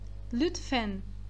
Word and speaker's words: lütfen: Então, a pronúncia dela sempre vai ser na ponta da língua, mesmo que ela esteja no final da palavra. Lütfen, lütfen, vai acabar na ponta da língua essa pronúncia.